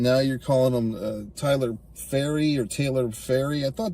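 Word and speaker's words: Pharry: uh early on there's a character named Taylor faery that's how it's pronounced p h a r r y so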